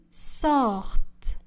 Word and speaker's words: sortent: Le ENT du verbe ne sont pas prononcés. Ils sortent.